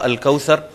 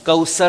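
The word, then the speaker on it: الكوثر: یہاں پر آپ نے ایک تو طا کے نیچے اسے انڈر لائن کرنا ہے، اور ثا اس کو انڈر لائن کرنا ہے کہ ہم آتینا ہم پڑھتے ہیں، اور کوثر ہم پڑھ جاتے ہیں، اور دونوں یہ پروننسیشن غلط ہیں.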